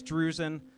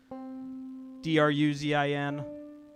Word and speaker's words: Druzin: It's spelled exactly how it sounds. Druzin. Druzin.